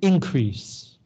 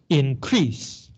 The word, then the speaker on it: increase: last or second syllable if it's a noun you stress the first syllable for example the word